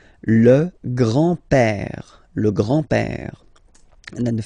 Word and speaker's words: père: So, le grand-père, grandfather, le grand-père, remember, E accent grave like that, it's this open E, père, le grand-père, and then the feminine form, grandmother, la grand-mère, okay, so, les grands-parents, le grand-père, la grand-mère.